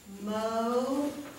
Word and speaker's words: motive: Mo, your chin drops, tiv, motive, okay? There's a vowel O and a vowel I, and the E is silent, don't worry about it.